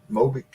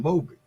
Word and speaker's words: Mobic: Mobic?